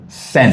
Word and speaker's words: Sen: How you pronounce the zen zen zen. Sen zen.